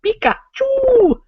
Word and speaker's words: Pikachu: Pikachu has 3 syllables. Pikachu! 3 syllables. Three.